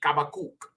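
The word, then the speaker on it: חבקוק: next one is kakuk in the English they say Hab habak okay but it would be kabak okay and it means to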